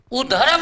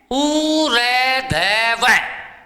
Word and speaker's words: ऊर्ध्व: अक्सर 90% बच्चे इसका उच्चारण भी गलत करते हैं। उधर्व नहीं है, उरेधव।